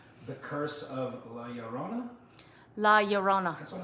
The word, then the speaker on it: Llorona: watching i apologize the curse of la llorona la yorona that's what i said so that movie because every time you pronounce it it makes me around saying it